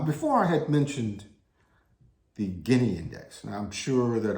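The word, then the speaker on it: Gini: 000 days now before i had mentioned the guinea index and i'm sure that almost nobody understands or even heard of the guinea index it's spelled g-i-n-i now the ginny index measures income distribution across the entire population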